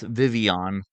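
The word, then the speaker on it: Vivillon: but it's Vivian because it's French.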